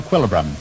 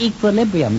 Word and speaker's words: equilibrium: around to test your equilibrum no that's pronounced equilibrium doctor oh is it